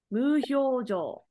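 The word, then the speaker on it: 無表情: When omote is married, it's pronounced as hyo. Hyo. Muhyojo.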